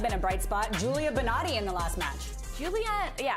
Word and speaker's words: Bonatti: And someone who has been a bright spot, Julia Bonatti in the last match. Julia, I didn't say her name right. We had Valeron last pack. This is Julia Bonatti.